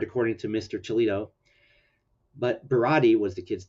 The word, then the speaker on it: Berardi: I got the name wrong too. But I was closer. This was Bernard, according to Mr. Chilito. But Berardi was the kid's name.